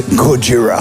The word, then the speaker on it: Gojira: No, you pronounce it wrong. It's Gojira. Gojira.